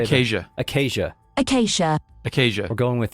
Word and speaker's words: Acacia: Acacia. Acacia. Acacia. We're going with that. Acacia is the new canon pronunciation.